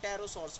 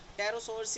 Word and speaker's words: pterosaurs: वो टेरोसॉर्स लाइक, देखो टेरोसॉर्स में PT से स्टार्ट होता है लेकिन P नहीं, हमने टेरोसॉर्स नहीं बोला, हमने टेरोसॉर्स बोला। टेरोसॉर्स इज PTEROSAURS, टेरोसॉर्स, right. So extinct jeans of टेरोसॉर्स, उसको हम बोलते हैं टेरोडैक्टिल।